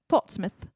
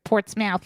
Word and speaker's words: Portsmouth: If you're British, Portsmouth. Portsmouth. If you're American, Portsmouth. Portsmouth.